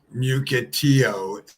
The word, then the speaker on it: Mukilteo: Mukilteo is how you say it.